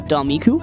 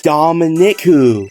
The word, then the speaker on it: Dominiku: I want to show quick shout out to Domiku. It's probably ass way of saying that, and I'm probably not even saying it properly. Hold the fuck up. This dude actually messed up saying my name. It's Dominiku.